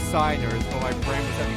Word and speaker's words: signers: these days yes cygnus I know it's signers but my friends can't say I blame you excellent by the way those are it's pronounced signers now the first duel the fortune cup